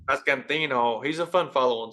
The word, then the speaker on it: Pasquantino: Vinny Pasquantino. Pasquantino.